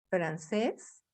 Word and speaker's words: francés: unos ejemplos por ejemplo francés aquí estamos separando la palabra en sílabas y la última sílaba tiene el sonido fuerte es la sílaba tónica porque no decimos francés